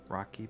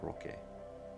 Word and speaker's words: Roque: So I switched back, but then I still kept it pronounced Rocky. It's actually pronounced Roque. It's a Spanish in origin, but I've always gone by Rocky.